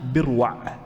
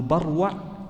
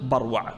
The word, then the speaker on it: بروع: وصححه الترمذي والجماعه اولا بروع جاء ان اصحاب الحديث يضبطونها بروع بكسر الباء والصواب فتح الباء قالوا بروع مثل جدول مثل جدول يعني نفس ما تنطق جدول تنطق بروع واضح بارك الله فيكم طيب